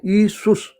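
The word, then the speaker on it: Ἰησοῦς: और जो ग्रीक ज़बान है जिसमें आजकल ये न्यू टेस्टामेंट लिखी हुई है वहाँ जे है ही नहीं। अगर वो प्रोनाउंसिएशन करेंगे ना बनता है ईसुस।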